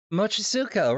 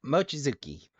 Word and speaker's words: Mochizuki: No, that's Officer Mochizuka, right? Or Mochizuki, right? No way, he'd kill me. Excuse me, while I check the pronunciation just to be sure. Yep, Mochizuki.